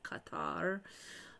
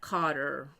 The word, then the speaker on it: Qatar: is just not does not sound right because then it sounds like c o t t e r, which is not Qatar. But I think we have trouble not having an emphasis on a syllable and having them all clipped and even.